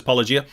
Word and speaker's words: Paulogia: I don't know how he pronounces Paulogia. He says Paulogia.